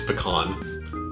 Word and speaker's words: pecan: And in case you're wondering, the only way to pronounce that is pecan. There is no other pronunciation.